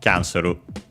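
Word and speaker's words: キャンセル: Okay, as expected, it's just like in English, kya on the kya, so on the first syllable, Kyanseru.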